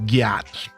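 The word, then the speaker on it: gyat: G Y A T is sling for butt. And you're supposed to pronounce it like yacht. Like if you were to go ride on a yacht. So it's like yacht.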